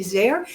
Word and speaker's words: Zare: LinkedIn all the time, and it's just Zare. If you spell my name correctly, it rhymes with care. It Hmm. starts with or for the last letter of the alphabet, ARE.